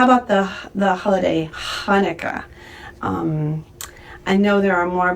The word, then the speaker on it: Hanukkah: So that's why sometimes you'll see Hanukkah spelled with a ch, and sometimes you'll see Hanukkah spelled with an h. But it's Hanukkah, and in proper phonetic words, it's H with a dot under it.